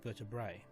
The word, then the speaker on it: vertebrae: If you have more than one vertebra, you pronounce them vertebrae.